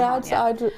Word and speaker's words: Mahon: Yeah, Mahon, Hi all at JM.